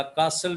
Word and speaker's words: castle: वॉज not strong, या कासल भी कहते हैं, दी कासल वॉज not strong, CASTLE, कासल। टी खामोश है, साइलेंट है।